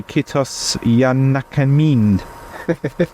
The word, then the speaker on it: Kiitos ja näkemiin: I've spelt it phonetically on my notepad as well. Kiitos ja näkemiin. Kiitos ja näkemiin. It sounds like a bad English pronunciation of it.